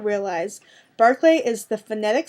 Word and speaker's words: Barclay: see oh sorry oh barclay b-a-r-c-l-a-y i wonder how you pronounce that barclay barkley no barclay it's english and scottish